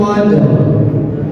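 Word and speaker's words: قدر: Cara membacanya qad. Tambahkan roh. Qad. Qadr. Jadi kalau misalkan Bapak dan Ibu hanya membaca Lailatul Qadr, awalnya nggak ke bawah.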